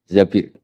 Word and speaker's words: Zabir: hadis ini bukan Mbak Bacanya bukan Zubair tapi Zabir.